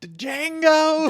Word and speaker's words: Django: Walton got Django. The Django. You son of a bitch. The D is silent.